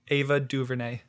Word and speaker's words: Ava DuVernay: gotta i gotta how do you pronounce it properly ava duvernay oh dude i got you i thought you had something a little bit more of a like a french twist on there cool man i appreciate